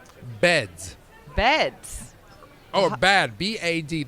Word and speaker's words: Bad: Oh, bad. B-A-D. It's spelled B-A-D, but think of it as bath.